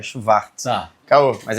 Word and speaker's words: Schwartz: A pronúncia correta alemã é Schwartz.